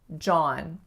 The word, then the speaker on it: John: John. Just one syllable, but the most common mistake I hear is with the vowel ah, not becoming ah enough and being more of a o. So it's not John, it's really John.